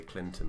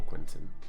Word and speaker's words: Quentin: In my head, I would say Clinton before Quentin for ages until I learned how to say it.